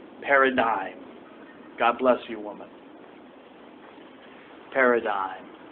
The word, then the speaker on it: paradigm: you could say it PA r a d i g m the g is silent I won't write it on the board because I'm assuming you're listening Paradigm Paradigm God bless you woman